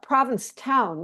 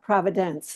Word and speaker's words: Provincetown: It's also Provincetown, not Providence, an old mix-up that many people have done over the years.